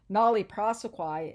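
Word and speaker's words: nolle prosequi: textbook talks about called it's uh call uh pronounced nollie prosequie it basically means that the that we are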